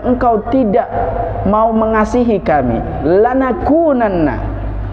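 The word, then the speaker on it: لَنَكُونَنَّ: tidak mau mengasihi kami lanakunanna bacanya gitu lan aku Nana Jangan sampai salah baca ya Lex apa Mbak coba bareng-bareng hilangnya Lan aku jadi yang panjang itu di kosnya bukan lamnya Lan aku dengan nah niscaya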